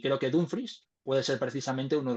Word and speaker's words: Dumfries: de Forbo, Lo he le escuchado, lo he pronuncias. escuchado. Lo he Vale, vale. escuchado, es Dumfries.